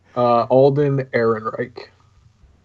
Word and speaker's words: Ehrenreich: Alden Ehrenreich.